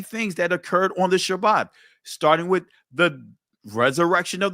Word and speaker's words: Shabbat: No, it's Shabbat. It's not Shabbat. It's not Sabbath. Sabbath is a Greek pronunciation of it.